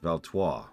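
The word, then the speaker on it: Valtois: I brought your greeting listen closely valto the S is silent run along aan Arana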